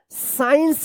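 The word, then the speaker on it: science: साइंस पढ़ेंगे। साइंस यहां पे सी जो है ना साइलेंट रहेगा क्योंकि एस के बाद सी आया है।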